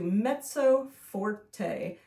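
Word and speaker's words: mezzo forte: an MF like so Meto spelled the same as you just spelled it m e z z o and then Forte is spelled f o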